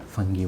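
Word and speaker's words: fungi: बोल रहा हूँ क्योंकि यूके और यूएस डिक्शनरी में जो है एक में फंजाई बोला जाता है और एक में फंगी बोला जाता है। जो भी पसंद हो, दोनों ही करेक्ट प्रोनाउंसिएशन है।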